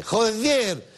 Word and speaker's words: joder: Y si además remata la frase con joder, así con acento en la E, joder, va directamente a misa.